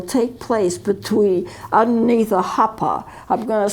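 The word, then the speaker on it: huppah: the ceremony will take place between underneath the hopper i'm going to spell it h-u-p-p-a-h this is a canopy and it's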